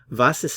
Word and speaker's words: was: the verb to be vases Das means literally what is that notice the pronunciation of the W here it's like a English V sound vas vas vas is so this question